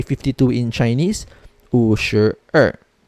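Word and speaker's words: 二: in chinese oh sure er remember usher because the number two is in the minutes not in the hour so it still follows the er pronunciation we have now usher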